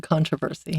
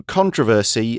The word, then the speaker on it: controversy: Courted controversy. Yeah. So controversy or controversy, you can kind of pronounce it both ways.